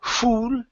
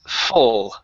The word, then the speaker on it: full: word full right here instead of fool it's full full full oh good so